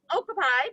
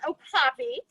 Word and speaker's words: okapi: is an okapi it's a lot of people call him okapi but the proper way to say it is oh poppy and they are a